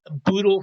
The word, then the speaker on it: boodle: boodle fight lunch and that's spelled b o dle e a boodle fight lunch basically this means oodles and oodles of food it doesn't they didn't name it boodle to rhyme with Ood but it does and the food is